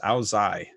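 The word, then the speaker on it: Ao Dai: Okay, that Ao Day, pronounced Ao Zai.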